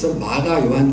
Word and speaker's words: 마가 요한: 바나바와 바울은 이때이 밤빌리아 마가 요한 때문에 마가요한 때에 마가는 로마식 발음이고 요한은 히브리식 발음이에요 마가 요한 때문에이 리아에서